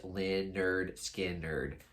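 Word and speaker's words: Lynyrd Skynyrd: a funny title because it's literally just called pronounced ly nerd skin nerd basically just to tell everybody that's how they pronounce their band name but yeah this is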